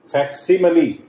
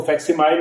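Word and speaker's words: facsimile: फैक्सिमली, इसको फैक्सिमाइल भी बोल देते हैं, फैक्सिमली है एग्जैक्ट प्रोनाउंसिएशन।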